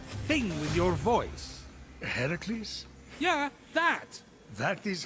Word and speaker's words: Heracles: doing there that thing with your voice the heracles yeah that that is how it's supposed to be pronounced seems like a lot of work it's